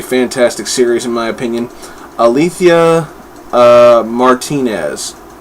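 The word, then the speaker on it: Alitha: opinion althia uh Martinez Altha Martinez I hope I pronounced that name properly um the first name anyway a l i t h a Al Letha sounds like I got a lisp um yeah this is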